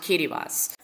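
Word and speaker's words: Kiritimati: called the Line Islands of kittas yes it's pronounced kittas now the reason you have to go to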